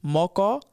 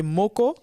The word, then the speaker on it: moko: Il y en a qui vont prononcer moko, d'autres qui vont prononcer moko. Mais avec ce terme-là, ce qui est bien, c'est que peu importe la façon dont vous allez prononcer les O, ça ne changera pas du tout le sens du terme.